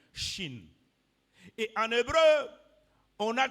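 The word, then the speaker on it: Shin: lettre en hébreu c'est le Chine Chine qui s'écrit s h i n Chine et en hébreu on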